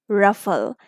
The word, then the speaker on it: ruffle: So the word will be ruffle, because after U we have F. This is a closed syllable word.